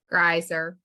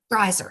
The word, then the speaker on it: Greiser: And how do you say Keith's last name, Christy? Greiser. Greiser.